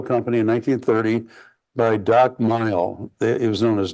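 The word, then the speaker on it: Mihl: in 1930 by doc mile it was known as doc m g h l l pronounced Mile and they open he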